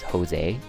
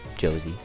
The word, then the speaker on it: Josie: son who's Mexican cuz his name is Jose or Josie if you want to be a dumbass to not pronounce the name correctly. It's Josie. But oh, it's so good.